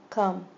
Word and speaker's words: come: doesn't follow the pattern even though it has a long a magic e the O does not make the long o sound makes the sound um come ho I dug a